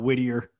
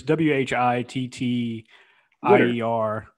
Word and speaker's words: Whittier: pronouncing it wrong it's i call it whittier but it's w-h-i-t-t ier alaska so twitter research winter yeah